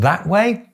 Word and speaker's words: gestern: Why is it pronounced “gesstern”? Because the S is in the coda of the first syllable, and the T is in the onset of the second syllable.